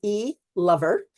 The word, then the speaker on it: Elover: Yeah, so the easiest way, my last name is a little odd. It's spelled E-Lover. It's Elover, as you pronounce it so beautifully.